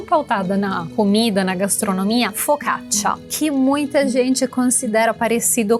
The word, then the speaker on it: focaccia: Focaccia. Temos esse tchá final como se fosse um TC, que é o mesmo tchá do tchau.